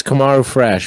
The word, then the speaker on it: Komarufresh: are you guys talking about how do you pronounce it uh it's kamaru fresh but you can just say fresh french and